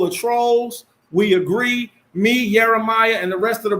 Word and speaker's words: YirmeYah: Khan, his name is pronounced YirmeYah Allah.